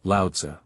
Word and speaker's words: Lao-Tzu: We turn now to the teaching of the great rival of Confucius, Lao-Tsu, pronounced Lao-Tzu.